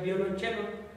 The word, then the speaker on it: violonchelo: pero se pronuncia el violonchelo puesto que es una palabra del italiano en italia es donde